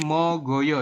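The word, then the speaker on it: 먹어요: menjadi Moyo ya jadi mogoyo y robun mogoyo seperti ini ya kalau kita latinan mo go yo Kayak gini ya ini tulisannya Meo geoyo tapi dibacanya mogoyo seperti itu silakan diisi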